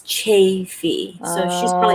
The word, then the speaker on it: Chaffee: right oh my gosh if i accidentally say chaffee that's what just comes to my mind but chaffey okay i knew it but thanks because i do want to say how the locals say it you know because i